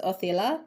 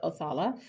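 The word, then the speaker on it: Othala: So the rune you have here is Oella. Some people pronounce it Oala, but it is the room of uh the home space.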